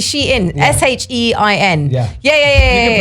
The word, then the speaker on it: Shein: So in the UK we call it Shine, but it's actually Shein.